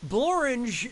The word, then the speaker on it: Borange: didn't you pick this borange is a real place and it really rhymes with orange but if you visit